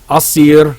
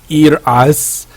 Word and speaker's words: Asir: Yes, it's pronounced Asir, not Ir-As, it's Asir.